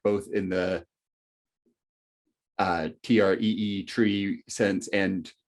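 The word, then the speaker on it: trie: in the uh t-r-e-e tree sense and tree in the t-r-i-e sometimes pronounced try uh like it's it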